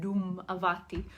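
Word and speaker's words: Dhumavati: the Hindu goddess and doom avati doom avati I mandro to come and pronounce her name it's like the sound of a drum doom doom doom avati she is really that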